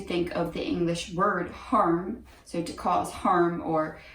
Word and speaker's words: Harm: is a voice name and the name is harm h-a-r-m if you speak german or dutch then